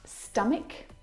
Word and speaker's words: stomach: CH combination words like stomach and ache the CH in all of these words is pronounced like a sound my brother is an